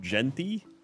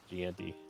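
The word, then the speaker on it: Jeanty: It's pronounced Genty. Ashton Genty. Gianti.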